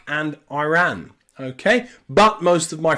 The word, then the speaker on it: Iran: Iraq and Iran okay so here the I and the r are two separate syllables and they are Ira or IRA okay Iraq and Iraq Iran